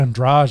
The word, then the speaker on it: Andrade: So you've got the Bullet taking on Andrade.